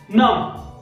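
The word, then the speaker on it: numb: नम, नम, Baum, Baum, jam, jam, lime, lime, क्रम,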